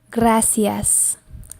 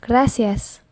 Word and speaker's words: gracias: it's in the beginning of the word and pronounce it like a go so go ah e ah let's put it together gracias gracias gracias very good and the next one big big